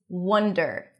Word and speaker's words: wonder: So, distinguish that word wandering that is pronounced with the O's and father. Wander around versus wonder. That's a cup sound spelled with O.